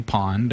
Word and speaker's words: pwn: way to go Sasha for years I always just called a pawn pawn yeah you can kind of call it whatever you want you can say pond or whatever but realistically I think its own and and the theory